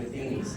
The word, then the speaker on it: Matheny: Russell Wilson, Robert's son Jeff, the Matheny's, obviously Coach Matheny is how you say it, and Pat Matheny.